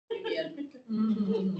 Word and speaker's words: Iu Mien: joined in November December and for the language Iu Mien is that how you pronounce yeah Iu Mien Anyway in 2022 we did our first data